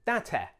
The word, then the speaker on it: Date: Nikka have another, lesser known blend with a Japanese name called Date. Not date, Date.